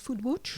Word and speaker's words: foodwatch: de l'oms est footballeur on prononce foule butch photo adjoint vaudois de